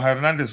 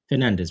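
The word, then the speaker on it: Fernandes: uh um Manchester United is it Fernandez? Is it or Hernandez? Which how do you say his own? Is it H or F? Fernandez. Fernandez. Yeah.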